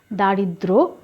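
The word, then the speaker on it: দারিদ্র্য: তোমরা মনে রাখবে অর্থাৎ যদি যুক্ত ব্যঞ্জনের সাথে জ ফালা থাকে ওর কিছুই পরিবর্তন হয় না কোন উচ্চারণ হয় না ক্ষমতাও বাড়ে না যেমন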